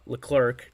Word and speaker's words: Leclerc: An inning and a third, no hits, 1 strikeout, and then Leclerc, that's how you pronounce his name, pitched an inning, the 9th, and he had 2 strikeouts.